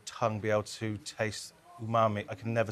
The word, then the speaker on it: umami: essentially makes your tongue be able to taste umami. I can never say this word. Is it properly. umami?